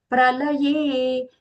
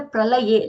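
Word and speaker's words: प्रलये: Pralaye. Here the pralaye, lakara. It is a dental l.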